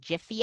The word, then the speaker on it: Giphy: I use the Giphy. Some of you might pronounce it Jiffy app.